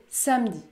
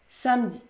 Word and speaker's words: samedi: le mot mercredi et dans d'autres cas il disparaît comme dans le mot samedi samedi je ne prononce pas